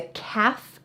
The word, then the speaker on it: calf: baby cow is a calf notice the L is silent but this muscle here